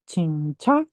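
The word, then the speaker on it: 진짜: Ini kan huruf J ya. Ini tuh dibacanya C ya, bukan J ya.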